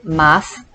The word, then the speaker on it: math: from the irish word math the t is silent and pronounced ma means a hand fruit